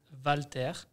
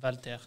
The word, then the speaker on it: Walter: So exactly is Walter. Okay. It's like my name is with W. But it's like when you say it, it's like V, yeah. You know? So it's Walter.